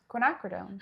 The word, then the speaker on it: Quinacridone: Then you've got, does anyone know how to pronounce this? Quinacridone.